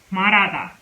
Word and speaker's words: 말하다: So we pronounce this as R.